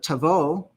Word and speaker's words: Tavo: at that word uh Tavo Tavo and does do you see something if you WR it out phonetically being that that letter is a it's B bait it's pronounced a v in this case but it's we would